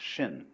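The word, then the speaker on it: 心: In Chinese, mind is this word pronounced shin, and shin is here.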